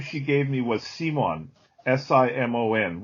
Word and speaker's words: Simon: she gave me was simon s-i-m-o-n which is the dutch way to pronounce the word simon and when i was